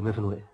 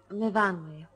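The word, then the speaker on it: Myfanwy: What do you do, Miffinwy? No, Miffinwy. We pronounce it Miffinwy.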